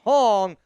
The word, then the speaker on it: Hong: It's pronounced Hong like Hong Kong.